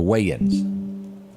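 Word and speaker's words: Wayans: y'all remember the weigh-in Brothers Wayman way is pronounced the the wein funny funny loved all their shows do you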